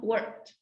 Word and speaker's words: worked: Worked. Wrong. Worked. Worked. No, it sounds like t, no, worked.